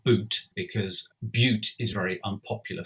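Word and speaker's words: Bute: looks as though abuse at this time is pronounced boot because butte is very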